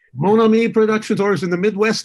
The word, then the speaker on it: Monami: company did i pronounce that productions very well pronounced monomi productions orders in the midwest they would say monami entertainment um and you really do wear several